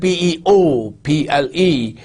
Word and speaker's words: people: people now people expelled PE o PL e you don't have the sound of oh in people people like if you